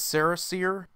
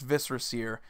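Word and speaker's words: Viscera Seer: butchered all the time usually how it gets pronounced is this saris ear when in reality it's just viscera see er because viscera is an actual thing it's basically like your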